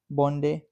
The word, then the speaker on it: Bondi: Hundreds of thousands of people visit the beach pronounced Bondday every year.